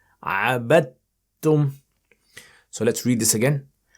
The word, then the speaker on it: عَبَدْتُمْ: Don't pronounce the dal. عَبَدْتُمْ.